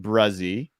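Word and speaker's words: Bresee: You've got this guy, Brian Bruzzi. This took me 3 months to learn the pronunciation of his name. It is pronounced Bruzzi.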